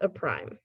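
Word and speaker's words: A′: what we call primes this is pronounced a prime so if i have an a with an apostrophe it's read as a prime and we'll see some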